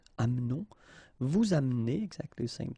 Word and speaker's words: amenons: It's a silent here, mute, amenons.